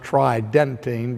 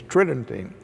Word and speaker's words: tridentine: It sounds like it would be pronounced tridentine, but the normal pronunciation is tridentine.